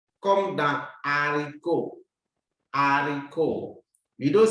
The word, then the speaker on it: haricot: Haricot. The H is silent.